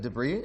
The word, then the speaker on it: debris: In the shield bay, the explosion has knocked out the shields, exposing the ship to space debris. Some of you might pronounce that debris. We can argue about it.